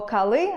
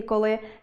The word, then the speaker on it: коли: Наприклад, якщо я скажу “адин” або “кали”, замість “один” і “коли” - це буде порушенням орфоепічної норми.